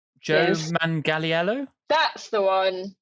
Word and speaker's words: Manganiello: Joe Manganiello? That's the one. Manganiello.